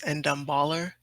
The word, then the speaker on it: Ndombele: Excuse think- me, I would just like to interrupt and say his name is Endamballer.